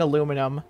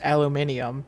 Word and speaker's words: aluminium: my farts oh man how do you say aluminum I I grew up saying aluminum so I think I'll just stay with that and because we're in the US or at least I am I'll say aluminum but I will fully admit that it's aluminium it's it's just spelled like that it really is I think aluminium makes